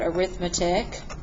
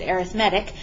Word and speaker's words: arithmetic: Looks like the word arithmetic. But when we're using that word to describe a sequence, we pronounce it arithmetic.